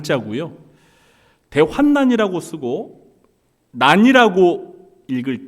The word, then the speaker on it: 대환난: 기회가 오기를 손꼽아 기다렸는데요 우리가이 대환란을 대부분 대환란 발음합니다 그런데 사실 정확한 발음은 대환난 대환란이 아니에요 대환란이 라고 읽을 경우에는